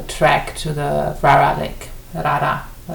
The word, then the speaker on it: Rara: Rara, it's pronounced Rara, which is in West Nepal, Midwest Nepal, in the Midwestern region.